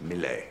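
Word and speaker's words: Millais: Daughter by Miley Lewis is pronounced Miley one of the pre-raphaelite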